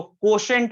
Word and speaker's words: quotient: Intelligence कोशेंट, spelling देखिए बड़ा टेढ़ा है, QUOTIENT, इंटेलिजेंस कोशेंट। इसको कोशेंट पढ़ेंगे हम लोग।